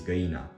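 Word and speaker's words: găina: my mom's name but her name rhymes with Geena which is the Romanian word for the chicken not chicken chicken is good enough the chicken specifically is gayna so my mom sometimes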